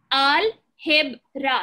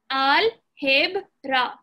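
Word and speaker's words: álgebra: Same thing, but pronounced differently. Al-heb-ra. Remember what I said about the G? If it has an E after it, it's pronounced like an H. Al-heb-ra.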